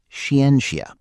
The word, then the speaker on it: Xianxia: It's pronounced shienia.